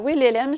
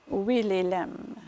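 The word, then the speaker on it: Wilhelem: Alors, Willelem, ça s'écrit W-I-L-H-E-L-E-M. Willelem.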